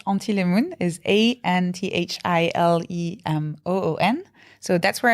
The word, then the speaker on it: anthilemoon: means absolutely nothing, but it's pronounced in French. Antilemoon is ANTHILEMOON.